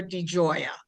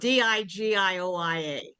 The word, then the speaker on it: DiGioia: is short for DiGioia. It's spelled Digioia, just like it sounds. Actually, it sounds more like an Italian argument.